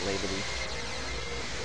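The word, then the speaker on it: Labadie: Or Labadee. I've always heard it pronounced Labadee.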